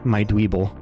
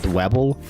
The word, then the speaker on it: Dwebble: Please do not kill my Dweeble. I call him Dweeble even though it's spelt Dwebble. I think Dweeble sounds better.